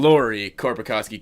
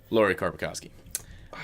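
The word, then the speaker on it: Lauri Korpikoski: Lori Korpikoski, K-O-R-P-I-K-O-S. It's a little mix of both of ours, hey? Your beginning and my K-I. ending. Lori Korpikoski.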